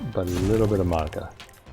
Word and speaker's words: Madoka: I always have to think about her name in order to actually like say it correctly, because so many people pronounce it as Madoka to me for a long time.